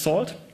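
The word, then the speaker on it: NaCl: It uses a networking and cryptography lip pronounced salt and it uses elliptic curves for the diffan key exchange 255 bit public keys.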